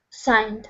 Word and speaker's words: signed: uh signed them all signed signed yes so we thought G and the E exactly yes signed another one of those crazy English words where we don't pronounce certain letters okay um number eight